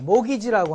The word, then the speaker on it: mortgage: mortgage는 우리가 말하는, T자는 묵음대입니다. 모기지라고 하는데, 경제학자들은 이게 목숨을 죽을 때까지 목숨을 저당 잡히고 얻어오는 이 저당 담보권이라고 해서 모가지론이라고 그래요.